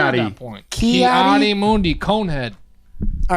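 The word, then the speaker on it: Ki-Adi-Mundi: that movie came out, I had no fucking clue how to pronounce Coyote Mundi.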